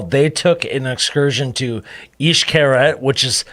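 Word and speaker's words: Xcaret: were in cozumel they took an excursion to east carrot which is spelled x-c-a-r-e-t yes and they went to the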